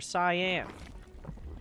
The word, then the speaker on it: cyan: It's not even cayenne or cyan, which I think is pronounced cyan.